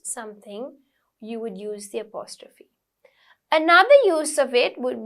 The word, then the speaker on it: apostrophe: Next one, apostrophe. Okay, it's pronounced as apostrophe. PH is like a little F sound.